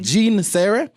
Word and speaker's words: Jeanne Sere: did i mention your name correctly did i pronounce it yeah jean sarah and i am just looking at a couple